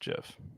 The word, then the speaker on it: GIF: The creator of it said that it's pronounced Jiff.